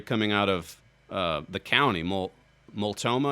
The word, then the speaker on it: Multnomah: There was a story coming out of the county, Multnomah, I guess is how you pronounce it.